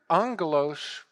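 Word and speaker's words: ἄγγελος: two Messengers the word Angelos is the Greek word for Messenger but if you phonetically Express that word it sounds like Angel OS Angel especially in the romance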